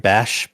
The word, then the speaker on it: Bas: Am I saying it right? Bash, is that his Bas, name? yes, really, Bas, if you Yeah, hear this, I really want to thank you.